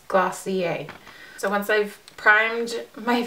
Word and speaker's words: Glossier: website just to see how the brand is pronounced and it is glossier so once I've primed